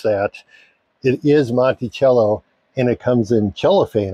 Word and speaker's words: Montello: I actually had to look up how to pronounce that it is Monty cello and it comes in cellophane apparently all right